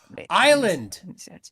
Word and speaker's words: island: Island. An island. Yes, yeah. We don't pronounce the S.